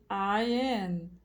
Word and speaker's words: curtain: Mas na hora de pronunciar, você não vai pronunciar este Tzinho, né? Na verdade, nem um Azinho. Você vai falar cur. Este Ezinho de cabeça para baixo é esse som de tá? Então vai ficar curtain.